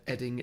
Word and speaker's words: Ebbing: Well, you did just pronounce it Ebbing, Missouri, but until then you were doing great. It's Ebbing.